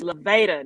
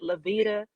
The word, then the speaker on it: Levada: It's Levada, not Levada, not Levita.